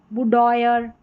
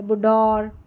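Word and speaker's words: boudoir: फिर यहां पर है बुडोयर बुडोयर या बुडोर बुडोर इस तरीके से और करके थोड़ी टफ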